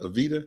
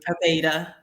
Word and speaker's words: Aveda: Is it Aveda? Avita? Aveda.